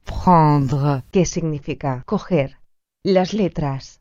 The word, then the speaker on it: prendre: Las letras A, N, O, E, N, o menos frecuentemente, A, M, O, E, M se pronuncia. en, Por ejemplo, el verbo prendre, que significa coger.